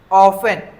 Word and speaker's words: often: हाउ और ऑफेन। ठीक है? ऑफेन या फिर उसको ऑफेन भी बोलते हैं। दोनों बोलते हैं। ऑफेन बोलोगे तो टी साइलेंट है। ऑफेन बोलोगे तो टी का प्रंसिएशन करोगे।